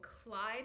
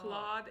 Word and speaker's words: Claude: This book is called Clyde and the Dog. Claude and the Dog. But I've already said Clyde. I've been saying it wrong my entire life.